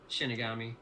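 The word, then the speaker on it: 死神: Shinigami.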